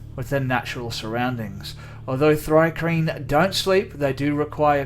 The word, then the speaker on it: Thri-kreen: this D&D has it's pronounced. So give me 1 sec. Oh. Thri-kreen.